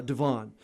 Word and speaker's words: Devon: I think, am I pronouncing his name correctly? Devon, yeah. Devon.